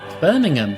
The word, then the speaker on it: Birmingham: What do you mean butchered that name? Birmingham, that's how you say it.